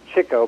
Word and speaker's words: Chico: of trickster and then Chico who is sometimes pronounced Chico but it turns out as Chico because he likes chasing chicks but anyway he he